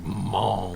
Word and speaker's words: Mahnke: It's probably like, Mink. Doug We're Mink. trying to. If it's got a consonant in it, you got to say it. So it's like Monk. Right. Yeah, Monk.